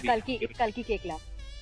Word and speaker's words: Kalki Koechlin: Kalki Koechlin is how it is pronounced, or Koechlin? No, it's Kalki Koechlin.